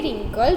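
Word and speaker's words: wrinkle: अगर आप बोलेंगे रिंकल रिंकल राइट तो उसमें डब्ल्यू है वो हमें उसका कोई साउंड नहीं आता। यानी कि जो डब्ल्यू है वो साइलेंट है।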